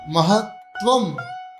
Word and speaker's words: महत्वम: तेजो महामनिषु याति यथा महत्वम। महत्वम में आधाता में डबल आधाता है। म ह आधाता, फिर आधाता, फिर व ऊपर बिंदी हो जाता है महत्वम।